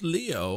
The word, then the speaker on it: Leo: venerable Leo Ayan ayanokoji it is written with a Kani for lion to be sure but it's pronounced Leo I wager you're impressed